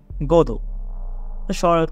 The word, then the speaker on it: Godot: এই গোডোথ শব্দটির আইরিশ উচ্চারণ হয় গোদো।